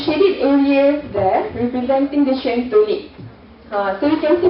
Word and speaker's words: Qiantou: Qiantou Lake. I just learned how to pronounce it yesterday.